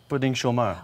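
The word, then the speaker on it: pouding chômeur: Pudding chômeur.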